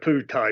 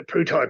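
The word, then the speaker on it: Pheu Thai: it's really interesting the food thai party it's not food made at the Poo type party but pronounced with a p um the putai party is actually trying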